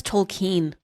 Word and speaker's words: Tolkien: I thought it's Tolkien. Tolkien. Yeah. K-E-I-N. I didn't know how to pronounce it, but...